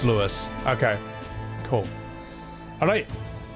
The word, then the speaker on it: Louis: It's not pronounced Louis, it's Lewis.